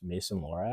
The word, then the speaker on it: Lohrei: Player that's caught my eye, I think, is Mason Lohrei.